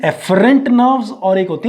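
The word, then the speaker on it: afferent: एक होती है एफरेंट नर्व्स और एक होती है एफरेंट, यानी कि एक है AFF और एक है EFF। ठीक है ना? प्रोनाउंस एक ही तरह से होंगे, एफरेंट एंड एफरेंट।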